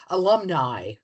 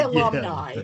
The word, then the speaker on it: alumni: it alumni alumni we've gone through that English pronunciation Latin pronunciation I say alumni okay is it I is it the letter I the letter I yeah alumni which in English in English it's alumni in Latin it would be alumni but